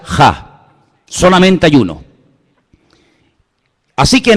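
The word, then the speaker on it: הַ: Se pronuncia ja.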